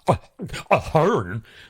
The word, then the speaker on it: Ahern: the Hearns, as they used to be known as, a Hearn, like that. That was how their name was pronounced. A Hearn is pronounced like that.